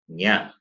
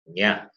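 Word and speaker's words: ञ: The fifth letter is pronounced as nya. It is nya.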